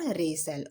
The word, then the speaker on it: wrestle: Our, honest और रेसल, okay. यहाँ पे दो वर्ड थे साइलेंट, W और T, ओके। यहाँ पे देखिए W का भी कोई उच्चारण नहीं हुआ और T का भी, सिर्फ RES और LE का उच्चारण हुआ है बस।